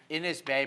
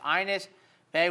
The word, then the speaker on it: Ines Bay: I thought it would be pronounced Ines Bay, but it's Ines Bay.